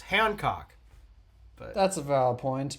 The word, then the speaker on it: Hancock: Because everyone in my family pronounces it as Hancock. I'm the only one who pronounces it as the way it's supposed to be pronounced, Hancock.